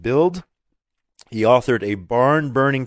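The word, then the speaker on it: Bild: the best-selling German newspaper I believe it's pronounced build he authored a barn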